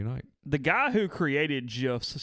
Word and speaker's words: GIF: The guy who created GIFs says that it is GIF, not a hard G. So I'm going to take his word for it. So it's GIF like the peanut butter.